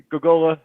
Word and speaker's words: Gogola: how do you is it gokula is that how your last name is pronounced gogola yeah yeah you didn't put any extra letters in there people like to do